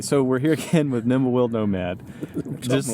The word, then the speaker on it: Nimblewill: Nimblewill.